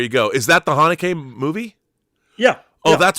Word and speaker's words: Haneke: How do you pronounce that right? Michael Haneke? Michel Haneke.